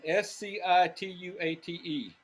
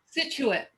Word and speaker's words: Scituate: he landed in massachusetts i don't know how they would pronounce it in massachusetts scituate scituate that sounds right is that still there yeah situated that makes sense um anyway and he